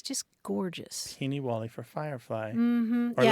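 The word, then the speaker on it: peenywally: Peeny-wally. Peeny-wally. Sounds familiar, yeah. Yeah, it's spelled lots of different ways, like P-E-E-N-I, and then another word, Wally, like the name Wally, Peeny-Wally.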